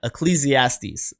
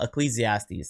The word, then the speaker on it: Ecclesiastes: reference paraphrasing all right I use the internet pronunciation for this so if I'm saying it wrong understand that I tried Ecclesiastes okay um that's at least what the internet said is how it's pronounced um I believe I've